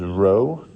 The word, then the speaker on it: rho: is uh pronounced this little p thing is rho and it's spelled that way r h o and then